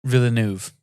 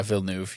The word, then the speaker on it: Villeneuve: Director Denis Villeneuve Villeneuve I watched him pronounce it and he doesn't have the extra i sound. Villeneuve? Yeah, Villeneuve.